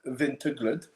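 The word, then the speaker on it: Vinterglöd: Uh so that's how it's pronounced, vintaglood.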